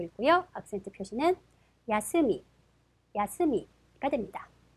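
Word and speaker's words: 休み: 야스미라고 읽고요. 악센트 표시는 야스미, 야스미가 됩니다.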